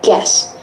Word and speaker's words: guess: Actually, I think U is a silent letter here because you pronounce it as guess.